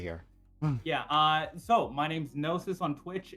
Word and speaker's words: Gnosys: So my name's Gnosis on Twitch. It's spelled GN0SYS.